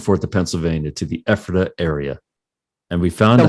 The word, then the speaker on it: Ephrata: Oh, Pat and I, we've been back and forth to Pennsylvania to the Ephrata area, and we found a house. What area? Ephrata. Ephrata. Yeah, how do you spell that?